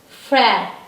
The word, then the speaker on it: frère: One more example I can give you. That is this is a sound here. This is silent letter. F is f. R is again h little bit. And this accent grave is a. This is h again. And this is silent. Frère. Frère. Frère.